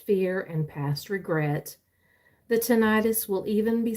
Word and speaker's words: tinnitus: Very similar to tinnitus. I say tinnitus, and my oldest son says no, it's really tinnitus.